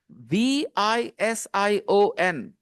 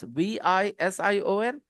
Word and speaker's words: vision: do you know this v i s i o n how do you say this guys Vision Vision some of you are getting it right perhaps because you have this sound in Arabic and that's why huh